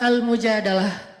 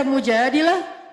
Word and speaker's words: Al-Mujadalah: Jadi tergantung kita bacanya dilah atau dalah. Kalau kita baca mujadilah berarti perempuan yang lagi curhat. Kalau kita baca almujadalah berarti curhat itu sendiri.